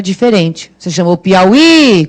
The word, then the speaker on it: Piauí: Você chamou Piauí, qual é a sílaba tônica do Piauí? É o I lá no final, não é isso?